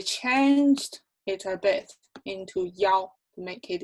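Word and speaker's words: 一: is often pronounced not have e anymore it's pronounced as yaw as yaw so take a look at the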